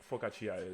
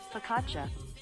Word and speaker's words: focaccia: at me focus oh i don't know what focaccia is should i look it up yeah i